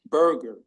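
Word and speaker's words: Boerger: you say it good evening I'm berer Burger okay thank you good evening board um as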